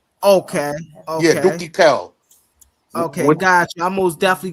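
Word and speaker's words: Doukki Gel: Dookie is D O U K K I. All right. K. Space. Then it's uh G E L. But the jail is pronounced like kale. Like a kale.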